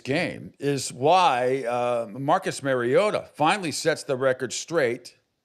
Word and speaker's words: Mariota: It's not Mariota. It's Mariota. Mariota.